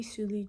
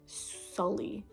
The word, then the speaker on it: Sulie: back to me and they usually say something like Sully and I'm like, it's like Julie but with S.